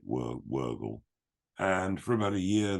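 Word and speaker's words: Wörgl: I probably got the pronunciation completely wrong, but it's spelt Virgil. I think they say it Wurgle.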